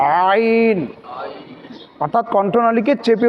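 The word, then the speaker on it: ع: থেকে উচ্চারণ করা হবে হলকের মধ্যের অংশ থেকে উচ্চারণ করা হবে অর্থাৎ হলকটাকে মধ্যখানে একটু দিয়ে উচ্চারণ করতে হবে আইন আইন অর্থাৎ কণ্ঠনালীকে চেপে উচ্চারণ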